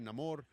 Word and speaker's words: Namor: Um, you know, and it also goes with the way is pronounced. Some characters call me, some say Neamore.